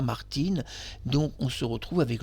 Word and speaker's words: Martines: sous le nom de Martinez. Selon certains pays, on ne prononce pas Martine.